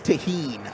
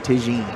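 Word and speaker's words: Tajín: love a ball talk I know it's tahen all right but I like saying Tajin I don't know it's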